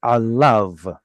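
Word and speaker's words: עָלָיו: Anytime you have a yod vav at the end of the word, you can pretty much guarantee that we're going to ignore the yod. It's alav.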